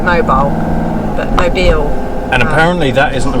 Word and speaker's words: Mobile: because the next biggest town along is MO pronounce it mobile aye Beall it looks like noble but my bill and apparently that isn't a very nice place